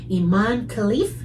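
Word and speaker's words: Imane Khelif: 2024 featured one moronic transgender conversation after another, culminating in a controversy involving Algerian Olympic boxer Iman Khalif, is that how you say it?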